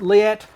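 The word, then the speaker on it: Leatt: them all about it so these are by liat i think that's how you pronounce it leat correct um so i was looking for some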